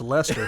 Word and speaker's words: Leicester: Leicester City yeah no it's not like Chester okay I said it a million times and got roasted so that's how I pronounce that Leicester how is that pronounced Lester what what country is